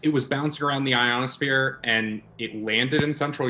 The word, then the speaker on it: ionosphere: So the signal could have been bouncing around the ionosphere for hours, days, weeks, months. But he absolutely mispronounces ionosphere. Yeah, ionosphere. How do you mispronounce ionosphere? Iconosphere. Ionosphere.